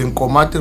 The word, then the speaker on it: Nkomati: The story there is uh the actual name of the river is Incomi Incomi Incomati Incomati or Incomati River. So mispronounced as Kati River.